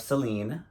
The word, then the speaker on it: Celine: the creative director of Celine Accent on the E for like 10 years